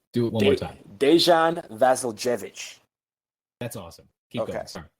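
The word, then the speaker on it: Dejan Vasiljević: one more time do it one more time dejan vasiljevic that's awesome keep going sorry all right um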